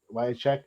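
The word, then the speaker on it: Wiacek: Is that how you Wyatt pronounce check. it? Wycheck.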